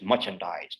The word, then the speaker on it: merchandise: Again, in merchandise, you can see R is before a consonant. It's before C. So it is merchandise, not merchandise, merchandise.